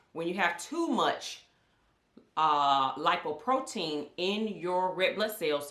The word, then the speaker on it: lipoprotein: It's pronounced lipoprotein. I know I was saying lipoprotein, but the correct terminology is lipoprotein.